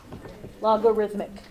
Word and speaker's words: logarithmic: log oh I'm then like rhythm like you're drumming on it logarithmic that's how it's pronounced